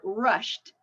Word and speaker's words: rushed: okay the next one rushed rushed so shh and voice so that means the Ed sounds like a t sound the child was rushed